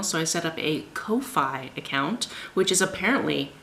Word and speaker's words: Ko-fi: it's not pronounced like coffee.” And I was like, “Oh, I was just living in ignorance.” I wanted it to be pronounced like coffee, but it's pronounced like co-ffee, like “no fee”.